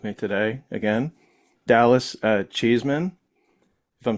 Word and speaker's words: Cheeseman: All the time cuz the way it's spelled it's you want to say cheese man. Yeah. Yeah. But it's cheese cheese men right? No cheese man. It is cheese man.